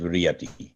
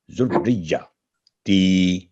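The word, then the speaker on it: ذريتي: یہ بھی تیری میں پڑھا جاتا ہے ذریاتی، تو ذریاتی نہیں ذریہ، یعنی پہلا ساؤنڈ جو بن رہا ہے زال، را اور جا. زال پر پیش ہے دمہ اور را پر تشدید ہے ساتھ کسرہ، پھر جا پر تشدید ہے، تو یہ تین لیٹر مل کے ایک ساؤنڈ بنے گا ذریہ تی.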